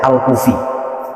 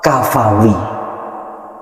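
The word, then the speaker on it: الكفوي: Di sini dijelaskan lagi, nama beliau itu Al-Kafawi, tulisannya kaf, fa, waw, ya. Dulu orang-orang yang tidak tahu itu membacanya Al-Kufi. Padahal Al-Kufi itu tulisannya kaf, waw, baru fa.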